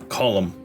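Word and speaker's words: Colm: was cool yeah column it's pronounced in ireland column okay so you're driving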